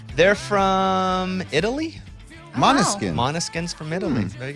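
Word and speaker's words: Måneskin: Monoskin. Even though it's spelled Not man. Monoskin. Because they're from another country.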